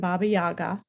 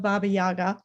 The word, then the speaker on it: Baba Yaga: tale of vasalisa and baba yaga and i will say that i am mispronouncing the name of baba yaga a russian speaker would say baba yaga i believe but um never criticized